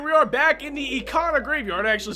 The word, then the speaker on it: Ikana: there and here we are back in the econo graveyard i actually said it right that time